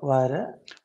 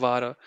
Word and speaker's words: wäre: Wenn die Techniker-Unterstützung immer erreichbar wäre, Not vara. This a umlaut, könnt, right? How do you say? You say wäre, air in English and wäre, just don't say the r part.